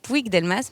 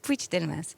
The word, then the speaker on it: Puig-Delmas: Elle s'appelle Puig-Delmas. Alors ça s'écrit Puig-Delmas, mais se prononce Puig-Delmas.